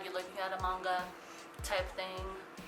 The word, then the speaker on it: manga: It's like it's giving me manga vibes without looking at the manga or manga. It's pronounced manga, Catty.